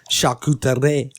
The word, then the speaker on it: charcuterie: The pronunciation, the true pronunciation, charcuterie. Yeah. Charcuterie. Charcuterie board. Charcuterie board? Charcuterie board. No. It's a charcuterie board. Charcuterie. Shaw. There's no R. Charcuterie. There's a R, but it's silent.